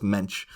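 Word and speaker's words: Moench: for Nightfall and but it's written like o m o e n c h yeah and I was cap on monic and all this stuff is no it's mench uh also the creator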